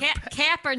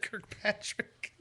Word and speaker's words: Kaepernick: very small group of people Colin kir Kirk Kaepernick Kaepernick I almost said Kirk Patrick I'm like what you going with that where